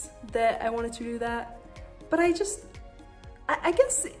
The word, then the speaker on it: daith: that before but i think the more correct pronunciation is doth and that's how my piercer said it so i'm gonna go with doth now you can see from you know i